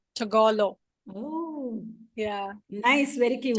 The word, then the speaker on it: Tagalog: It's called It's actually Tagalog. it's pronounced like Tagalog.